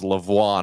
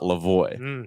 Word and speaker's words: Lavoie: And then we'll get the confusing bit of it's pronounced Savoie, not Savoie, and it's pronounced Lavoie, not Lavoie.